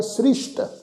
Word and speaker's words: सृष्ट: ब्रह्म ज्ञानी सब सृष्ट का करता, सृष्ट शब्द ससा जिहड़ा विचकार है ना जी उसके पैर च बिंदी लगा के पाठ उच्चारण करांगे सृष्ट।